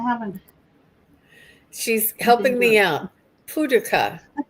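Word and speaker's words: Paducah: Puduka is how you say is Puka is Kentucky. Paduka.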